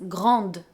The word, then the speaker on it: grande: Yes, "GRANDE, you hear this difference in the pronunciation between the feminine and the masculine? "GRANDE" for feminine, and "GRAND" for masculine!